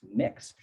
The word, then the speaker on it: Mx: a non-binary option like mx which is pronounced mix which can go along